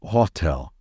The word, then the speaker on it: hotel: people say it wrongly never pronounce it as howel or hotel the stress should be on the the second syllable so the right pronunciation is Hotel I'm staying at the